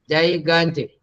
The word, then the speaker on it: gigantic: The second G is Ga. That's what you have to remember. Gigantic.